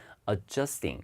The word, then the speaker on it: adjusting: 여기 드 이렇게 발음 빼지 말고요. 이 받침으로 넣으세요. 그래서 읽을 때 그 다음에 뒤에도 스트를 너무 강하게 하면 안 돼요. 이 스 할 때도 발음이 없거든요, 영어에는. 그래서 읽을 때는 adjusting 이렇게 읽으시면 되는데 이게 뭔가 삐뚤어진